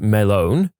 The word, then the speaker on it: Melon: Named him Walter Melon, pronounced Melone.